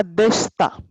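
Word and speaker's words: でした: दे, शीता correct. ओ चुकारे सामा देशता. देशिता का pronunciation खाली अलग रहेगा, देशता.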